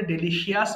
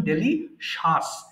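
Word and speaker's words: delicious: এরপর ডেলিশাস, এটাও দেখেন ভুল করে ডেলিশিয়াস বলি অথবা ডেলিসিয়াস বলি, এটা সঠিক উচ্চারণ ডেলিশাস।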